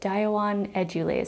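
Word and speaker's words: Dioon edule: including the pronunciation and he pronounces it daiwan edulaze so i just want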